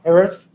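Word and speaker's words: Herath: Yeah, it's Harith. with a K. P-H-E-N is the way it's spelled.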